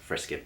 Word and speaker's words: Frisket: If you scroll down this video to my name, Chan-Frisket, yes, that's pronounced Frisket, believe it or not, there's a story behind that.